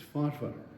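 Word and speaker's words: Forfar: And they pronounce it for well most of you will know forfearians don't pronounce it for it's farfur.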